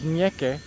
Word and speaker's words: ñeque: The Spanish word is ñeque. That's N-ye, that's a little N with a little thing on top, and E-Q-U-E, and that has, and that's the Spanish name for it. So Nicky is kind of a Americanized English pronunciation of it, but it is legitimate.